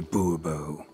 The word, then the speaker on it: Bourbeau: Monsieur de Bourbeau. Monsieur de Bourbeau. The emphasis falls on the last syllable.